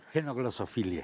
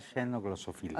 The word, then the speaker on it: xenoglosofilia: Genoglosofilia. Genoglosofilia, ya También está se bien. puede pronunciar xenoglosofilia.